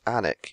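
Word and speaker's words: Alnwick: i am olneck oh if it's annik you pronounce that place and morph f i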